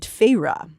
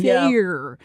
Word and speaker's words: Feyre: from the eyes of a young woman named Feyre, which thankfully Sarah works a clever pronunciation of this name onto page 13 of the paperback because I probably would have been calling her Feyre the entire time. Feyre.